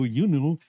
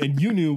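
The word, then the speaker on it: Iunu: that they've made up, I discovered historians saying, "We don't know how to pronounce this name. this word, and you knew was the closest pronunciation guide I could find that anyone managed to actually agree on.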